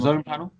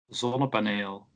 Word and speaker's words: ZonnePaneel: ZonnePaneel. Yeah, that's a Dutch name for a solar panel, basically. ZonnePaneel.